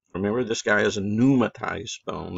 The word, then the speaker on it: pneumatized: Remember, this guy is a pneumatized bone. That P is silent there, too.